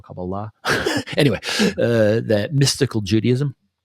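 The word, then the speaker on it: Kabbalah: cabala right or cabala I think is how you say it I think the emphasis is this the accents on the last syllable cabala anyway uh that mystical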